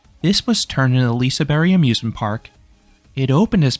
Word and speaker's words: Liseberg: And to address the elephant in the room about the pronunciation, when you say the name in Swedish, the G at the end is silent.